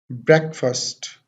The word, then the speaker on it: breakfast: But this is नॉट the correct way to pronounce this word. The correct pronunciation of this word is breakfast.